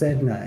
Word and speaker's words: Sedna: Pronounced Sedna is the sea deity of the Inuit people.